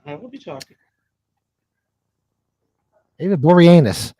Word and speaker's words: Boreanaz: David Boreanaz.